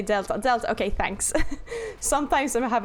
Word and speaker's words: d3l7a5: you want it's pronounced because I'm assuming this The Things Are supposed to be like um the numbers are supposed to be letters so that's say Delta okay thanks sometimes I